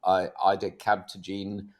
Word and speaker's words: ide-cel: We others we just call it Ide-cel, and that's two syllables for you.